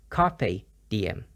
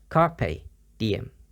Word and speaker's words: carpe diem: on posters and pictures it's pronounced with the PE as a pay sound so it's carpe diem carpe diem some examples don't be